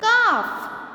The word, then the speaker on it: calf: a o or u you're not going to pronounce the sound of the letter l for example in calf salmon chalk yolk what